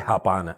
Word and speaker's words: Japana: de la iniciativa japana la estoy pronunciando bien Sí claro muy bien porque todo el mundo le dice japana no es japana está muy bien okay japana es la